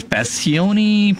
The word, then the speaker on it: Paccione: call him man uh his last name is passioni Passion how do you pronounce that Ken p a c c i o n e yeah yeah that sounds like right okay so let's just